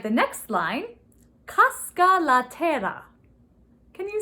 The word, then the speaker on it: terra: Terra means earth. And again, if you can roll your R's on terra, go ahead and roll your R's.